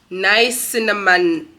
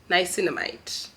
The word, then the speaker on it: niacinamide: to go get them let me let me pronounce it properly nice cinnamon nice niacinamide yes sand isn't once again I'm buying this